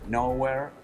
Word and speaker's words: Nowhere: De hecho, grabamos un disco hace unos 4 años que se llama Nowhere, Nowhere. O sea, wow. Es la palabra nowhere 2 veces, pero la segunda vez se pronuncia now here.